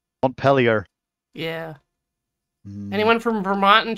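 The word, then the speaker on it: Montpelier: after French places like Mont pel but then they pronounce it weird pellier yeah anyone from Vermont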